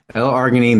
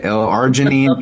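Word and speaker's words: L-arginine: Largonine, and there's interesting fact, L argonine, there's 277 different ways to pronounce this. So you pick, you can say L arginine, L argonine.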